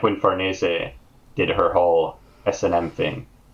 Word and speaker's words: Farnese: I say Farnese. Because it Farnese. seems an Italian-derived name, so I pronounce it that way.